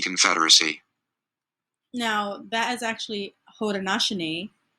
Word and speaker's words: Haudenosaunee: Now that is actually Haudenosaunee, not what they pronounced.